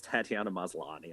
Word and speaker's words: Tatiana Maslany: So and I loved when even and I had her name wrong. Sorry, it's Tatiana Maslany.